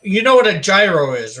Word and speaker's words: gyro: You don't actually pronounce the Y, I think it is, or the G, so it ends up sounding like hero.